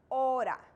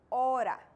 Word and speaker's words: hora: amazing language here's one the letter h is silent in spanish this means that you do not pronounce it ever so the correct pronunciation for time or hour in spanish is ora ora let's move on to